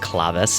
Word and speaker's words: Claves: Yes, it's pronounced Clavis, but I'm going to say Claves.